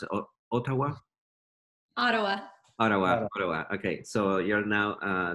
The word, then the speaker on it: Ottawa: from vancouver to otawa yeah it's how you pronounce it otawa ottawa ottawa okay so you're now uh there so um